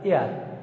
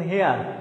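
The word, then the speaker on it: heir: এখন পরীক্ষার হলে আপনার কোশ্চেন আসছে এইটা এয়ার, এটার উচ্চারণ তো হয় এয়ার। এখন পরীক্ষার হলে যায় তো আপনি উচ্চারণ করতে পারতেছেন, আপনি বলতেছেন হেয়ার, তাহলে আপনি তো উচ্চারণ না পারলে এইচ উচ্চারিত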